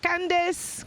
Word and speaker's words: Candis: but he told me he said Candis cuz that's how you say my name he said you have